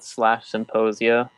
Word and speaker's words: Psymposia: That's spelled with a P, with a silent P in there. And Facebook and Twitter, both /Psymposia.